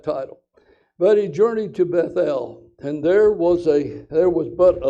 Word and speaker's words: Bethel: And they journeyed from Bethel, or Bethel. We're going to pronounce that L, E-L.